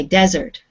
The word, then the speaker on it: desert: be jade the first one okay the first syllable can you say it for me desert okay desert what is a desert do you know area